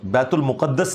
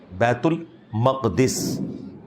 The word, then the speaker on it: बैतुल मक़दिस: ये लफ्ज़ है बैतुल मक़दिस, बैतुल मुक़द्दस लफ्ज़ नहीं है, बैतुल मक़दिस इसकी ट्रू प्रोनाउंसिएशन है।